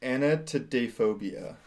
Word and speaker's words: anatidaphobia: Even get close to pronouncing that right. But this last one, I love this last one. Okay, it is anatidaphobia.